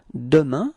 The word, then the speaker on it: demain: And so if it's for tomorrow, tomorrow is demain. Repeat. Demain. Okay? So it's ending with this A-I-N. Keep in mind that we do pronounce it like un.